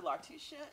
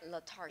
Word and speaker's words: Latarsha: Lartisha. Is it Lartisha? Did I say it right? Latarsha. Latarsha. Yes.